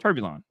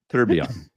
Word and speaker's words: tourbillon: Turbulon. Nope. Bugatti Turbulon. Nope. Turbulon. Nope. Turbulon. Then what is it? Tourbillon. Tourbillon. Yeah. There's 2 L's in there, dude.